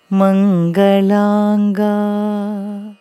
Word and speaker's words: Mangalanga: Very first line has Shivalinga Mangalaanga. Just the 2 syllables in ma. Mangalanga.